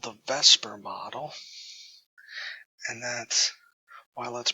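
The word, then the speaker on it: VSEPR: we're going to be using is called the Vesper model and that's why let's pronounced Vesper it's spelled vs e P R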